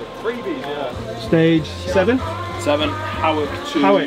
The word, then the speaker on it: Howick: Howick to... Howick. Do you know how to say it? Howick. Danny, tell him. Hoik. Hoik. Is that how you say it?